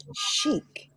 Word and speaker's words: Chic: was much later and it's actually chic um they use the french pronunciation that's why you look